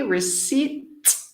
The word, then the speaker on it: receipt: 3 sleep which was remember the pronunciation without the P receipt receipt from a New